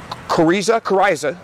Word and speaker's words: coryza: The most notable of those is coryza, I think I'm pronouncing that right, coryza, C-O-R-Y-Z-A.